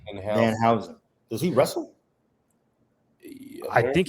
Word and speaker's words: Danhausen: Don Hauser? Danhausen. Danhausen.